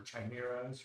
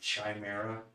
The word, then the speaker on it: chimera: details by the way did you say chimera i think it's pronounced chimera oh yeah i think it goes either way i've heard it pronounced both so and also uh that